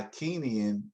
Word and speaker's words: Kingian: So in the Kenyan nonviolence, and by Kenyan, and that's spelled Kingian, uh, David Jensen and Bernard Lafayette gave it that name, Kenyan, from a book, one of Dr.